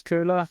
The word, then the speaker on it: Köhler: Yeah, well, like you said, my name is Köhler, or Koehler, like the Americans say.